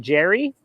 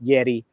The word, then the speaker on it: Yerry: He calls him Jerry. Jerry Mina? That's his cousin. He's out, but Yerry Mina might be in. Of course, in South America, anyone named Jerry, it's pronounced Yeri.